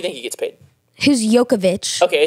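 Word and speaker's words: Jokić: I asked Taylor how much she thought um yokovic that's how you pronounce his name I'm sorry what it's it's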